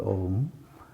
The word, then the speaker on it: om: Now the normal interpretation of the sound om is that it has three syllables a u and m and that a represents